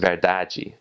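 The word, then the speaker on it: verdade: In Brazil in Portugal in Portuguese it's spelled the same but you have a e at the end right after the final d. So it's pronounced veraji or um the the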